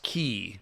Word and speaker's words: quay: also an okay so the weird Old English spelling that's pronounced key but looks like Quay is from the same